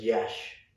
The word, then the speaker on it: Iași: In a town called, or a city called, you pronounce it as Iași. Okay. Spelled as IASI. So it's not okay. correct how it's pronounced.